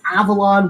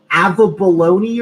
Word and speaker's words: Avalon: please that's just humiliating growing up it's always been Avalon one time I was in Sunday school and the teacher said that it was avab baloney or something it's avalone